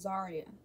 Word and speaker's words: Xariya: My name is pronounced Zaria, so it's with an X, but it's the same as you would say it with a Z.